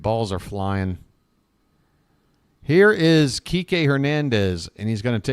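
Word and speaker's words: Kiké: Be sure you pronounce it Kike, folks. Don't, it's not a 1-syllable name. That would be bad.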